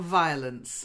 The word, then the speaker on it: violence: Yeah, it starts with V, not V. I pronounce it V. Yes, with a V, V. Try it again, once more, violence. Violence. Getting there. You need to practice it a bit, okay? Because it's a very common mistake in a lot of languages. People pronounce the V as a W. W has the W sound and V has the V sound, okay?